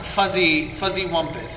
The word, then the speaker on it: Fuzzywumpus: It is pronounced Fuzzywumpus. There's a Z in there, not.